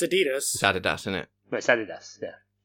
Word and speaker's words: adidas: yeah well if you ask the company themselves they would say adidas no that's what the American branch say the German branch where it's from is adidas that's added us because these is the